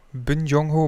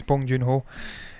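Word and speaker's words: Bong Joon-ho: screw his name up bin jung ho bond i think it's bong joon ho that's how you say it snowpacer we've got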